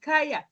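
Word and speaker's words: Kanya: know how you pronounce is it ka yeah because there's no h but Kaa or can you present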